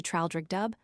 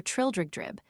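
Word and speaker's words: Traldragdubb: It contained a warrant for conducting me and my retinue to Traldrigdub, or Trildrigdrib, for it is pronounced both ways as near as I can remember, by a party of 10 horse.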